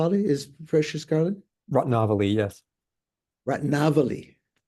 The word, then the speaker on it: Ratnavali: Ratnavali, correct pronunciation, by Nagarjuna.